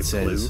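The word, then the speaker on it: plugh: I'm just wondering if everybody could just say plu for a why? Second. Wait a minute. Wait. I gotta scroll back here because I want to see something. Because plu. Plu. Okay. It's pronounced pluff.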